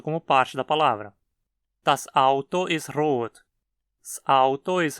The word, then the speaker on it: das Auto: Das Auto ist rot. Das Auto ist rot. Não pronuncie como Salto ist rot. Você precisa fechar a garganta entre o S e a palavra seguinte, pronunciando uma parada glotal, como a fechada na